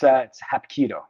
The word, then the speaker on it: Hapkido: I can't pronounce. It's Hapkido, which is Korean. Hapkido.